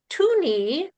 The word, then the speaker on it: Theune: Uh I'm going to call him Mike and apparently his last name is pronounced Tuni like Tunes.